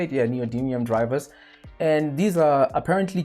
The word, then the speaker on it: neodymium: Yeah, neodymium drivers.